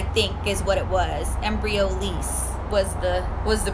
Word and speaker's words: Embryolisse: Embryolisse was the pronunciation.